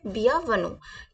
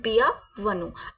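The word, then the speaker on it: bienvenue: में कैसे बोलते हैं तो हम वेलकम को फ्रेंच में बोलते हैं बिया वन कैसे बोलते हैं बिया वन आप फ्रेंच को अ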